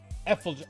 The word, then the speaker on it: effulgent: Tears, shopping, memories, treasure, flower, rainbow, empty, infallible, scars, Effulgent.